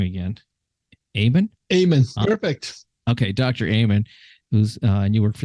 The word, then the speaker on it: Amen: Amen.